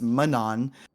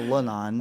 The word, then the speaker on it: Manon: to apologize to you it's Manon not lanon uh it's an m not an L but we gotta we'll